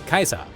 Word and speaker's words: Caesar: their Roman role models, with the title Caesar, for example, being pronounced as Kaiser.